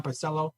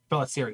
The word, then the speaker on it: Pelissero: It's been stated by Tom Pelissero or Tom Parcello. Pelissero? Pelissero, wow. L's are all in the wrong place when I pronounce it.